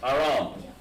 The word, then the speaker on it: Aram: We'll call it Aram. Aram. Or Aram. Aram. It's Aram. But how we pronounce it in Hebrew is spelled like this. With an H and Ra and an M.